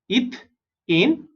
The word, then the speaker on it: ethane: ETH is eth and AN is ane. Right? इन तीनों में देखोगे first 3 letters are same, eth, eth, eth, and the last 3 letters are different. यहाँ पे AN is ane, EN is ene, and YN is ine.